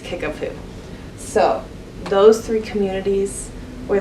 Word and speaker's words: Kickapoo: it's not what you would expect but it's pronounced kickapoo so those three communities were the ones that